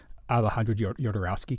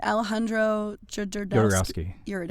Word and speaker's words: Alejandro Jodorowsky: Alejandro Jodorowsky came.